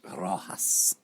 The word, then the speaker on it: Rojas: Rojas.